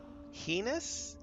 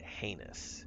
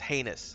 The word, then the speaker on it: heinous: Heenous. I've always pronounced it heinous. He heenus. I can't I can't handle that. It's heinous, sir.